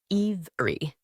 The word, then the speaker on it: every: This word is often shortened from iv'ri to iv'ri.